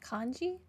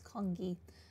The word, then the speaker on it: Kani: me refill your bowl that's how you say it Kani I thought it was kongi uh that would be